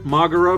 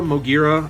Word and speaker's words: Moguera: take a look at here mura Moira I pronounce it both ways but um really really